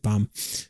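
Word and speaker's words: Bam: So, then his name was uh Bum, right? B A M, but pronounced it Bum.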